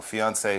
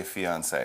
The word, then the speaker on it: fiancée: just one eat but the pronunciation is the same for male or female fiancee fiancee all right yes so he